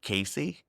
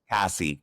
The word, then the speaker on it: Cassie: And like people are already on social media talking about Casey. Is it Cassie? Cassie. Cassie Cassie, I want to say her name correctly.